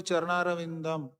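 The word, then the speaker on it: चरणारविन्दम्: It is Vande Guru Sri Charanaravindam. Not Vande Guru Sri Charanaravindama. If you put the halant, it becomes Charanaravindam.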